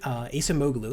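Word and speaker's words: Acemoglu: economists that i constantly refer to is darren asamoglu that's how it's spelled ace moglu and one of the really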